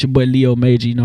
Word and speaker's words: Leo MJR: It's your boy Leo Major. It's just spelled MJR. That's just how we, you feel me? That's just how we brand it, but it's pronounced Major, so it's your boy Leo Major.